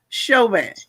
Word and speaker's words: Chauvin: Let me say that, of course, they pronounce it different ways around the nation, but here in Louisiana, we would pronounce the spelling of his name as Chauvin.